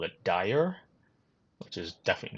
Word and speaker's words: Daher: called The Quest Kodiak now it's called the deha I don't know if that's how you say it I've had a look at some of the videos online they call it Dyer which is definitely not